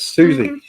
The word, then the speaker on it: Siouxsie: Susie. Versus, really? Susie and the Banshees. Yes, Susie.